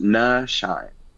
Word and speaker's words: Nyshyne: you can find me everywhere at the Nyshyne, TheNyShyne, pronounced Nyshyne.